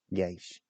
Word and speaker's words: Geis: It is pronounced Geish. Geish. Glamour.